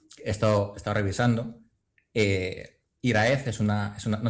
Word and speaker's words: Hiraeth: Eh, Iraz es una es una, no sé si lo pronuncio bien, Iraz, mejor que mucha gente, así que sí.